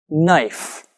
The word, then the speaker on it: knife: cut the cabbage listen knife knife it's spelled k n i f e we don't say the k in knife so it only sounds like knife that knife is sharp